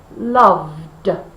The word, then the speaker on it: loved: So we know we need to use the d sound. Loved, loved, loved. Make sure you can feel that vibration.